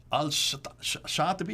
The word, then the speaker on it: Al-Shatibi: Al-Shatibi, is that how you pronounce it? Shatibi, yeah.